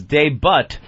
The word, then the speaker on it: debut: Wake Up with Whoopi made its debut today on... Anthony, the T is silent. Ah. Well, not really. I think it's kind of a soft T.